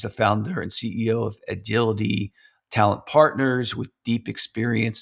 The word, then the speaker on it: Edgility: Today I am very excited to be speaking with Allison Wyatt from Agility Talent Partners. Just so you know, it's spelled E D G I L I T Y.